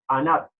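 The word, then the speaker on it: ענג: Pues la palabra deleitarnos viene de una expresión hebrea que se dice o se pronuncia anat, que es A-N-A-C, anat.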